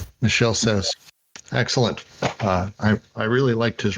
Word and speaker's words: Michel Serres: And can you say his name one more time so I never mispronounce it again? Michel Serres. Michel Serres.